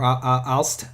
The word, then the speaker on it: Aalst: you have some towns like Aalst here, or Aalst, I guess you would pronounce it. But you said it right. Aalst, yes, okay.